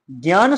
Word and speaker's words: ज्ञ: लेकिन उच्चारण इस तरह नहीं होगा। उच्चारण इसको क्या बोलते हैं आधुनिक रूप से? इसको आप लोग ज्ञा बोलते हो।